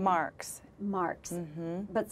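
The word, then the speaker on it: Marckx: Your character's name is Mary, and how do you pronounce her last name? Marks.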